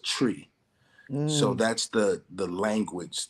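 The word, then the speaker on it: Twi: uh it's it's pronounced it's spelled t-w-i but it's pronounced tree so that's the the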